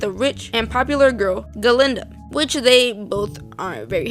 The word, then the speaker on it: Galinda: Galinda changes her name in solidarity with the professor since he often mispronounced it as Glenda, and the two girls become closer.